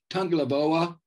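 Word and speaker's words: Tagovailoa: Tungalaboa, the younger brother of Tua. You pronounced it right, so there you go.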